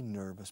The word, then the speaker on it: nervous: La O-U-S al final de las palabras en inglés nunca se pronuncia en O-U-S.